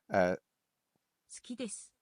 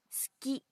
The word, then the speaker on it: 好き: Sometimes the vowels are not pronounced very much at all. 好き。